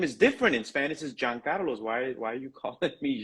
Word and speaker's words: Jean Carlos: In Spanish, you don't pronounce it the way that you pronounce it in France, right? Where it's Jean, but you Yes. pronounce it Giancarlos.